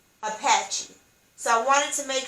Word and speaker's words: Apache: indians is apache or a psn paul a c-h-e is pronounced apache apache so i wanted to